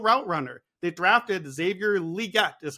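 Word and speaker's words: Xavier Legette: Johnson a real route Runner they draft drafted Xavier liette is how I'm hearing that we're pronouncing this name now they drafted Jonathan Brooks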